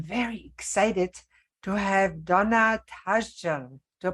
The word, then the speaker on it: Tashjian: and today I'm very excited to have Donna tajan do I pronounce it right Donna you did thank you